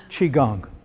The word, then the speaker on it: qigong: right okay that is Qigong it's pronounced eh i gon g the CH is actually spelled qi in chinese q is pronounced CH the way we pronounce CH so you could say